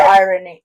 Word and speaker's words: irony: Well, in my personal opinion, I don't think that's what you very- should use it's for very- irony. I sorry, you're not supposed to pronounce the R.